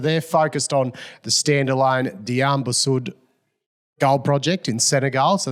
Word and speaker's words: Diamba Sud: Diamba Sud, yeah. Diamba Sud. Yeah. Oh, yeah. Or Sud, depends how you pronunciate it.